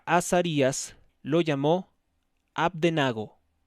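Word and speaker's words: Abednego: y azarías lo llamó AB de nago abdenago porque tiene acento en la e a partir del versículo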